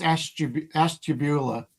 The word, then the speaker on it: Ashtabula: Well, it's pronounced Ashtabula.